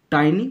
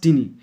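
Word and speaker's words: tiny: কিন্তু দুটো হতে পারে এর শব্দের উচ্চারণ দুটো টাইনি প্লাস টিনি এটা হচ্ছে এডজেক্টিভ ফর্ম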